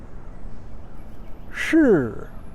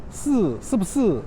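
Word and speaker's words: 是: The next word is shi, shi, shi. Beijing people will also pronounce this way, shi. But I've also heard people pronounce this word like they're pronouncing this word, number 4. So instead of shi, shi bu shi, they will pronounce si, si bu si, si bu si. And that's not right.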